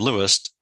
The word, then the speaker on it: Louis: I remember Helen's husband lewist Lewis pronounced Louis uh once telling me